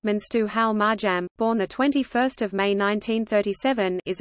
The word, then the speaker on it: Mengistu Haile Mariam: Mengistu Haile Mariam Amharic, pronounced Menstu Hal Marjam, born 21 May 1937, is an Ethiopian soldier and politician who was the leader of Ethiopia from 1977 to 1991.